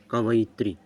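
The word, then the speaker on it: कवयित्री: ई की मात्रा कवयत्री और इसका उच्चारण भी होता है जो बोल रहा हूं कवैत्री नेक्स्ट क्वेश्चन देखो क्या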